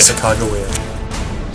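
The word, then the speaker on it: Sacagawea: Or is that really her name? Her name is Sakagewa. That's closest to how they phonetically recorded it. Sakagewa.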